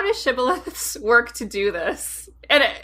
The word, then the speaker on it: shibboleth: came over, they said, "Can you say shibboleth?" And if they said sibboleth, it would suggest that they couldn't pronounce the word correctly, and it was a